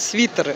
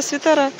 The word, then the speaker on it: свитеры: пижамы кстати свитеры я я прочитала что чётко надо правильно говорить свитеры А я всегда свитера Ну я думаю что